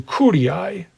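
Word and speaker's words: curiae: now the tribes were further broken down into Ki that's c r i AE CI a word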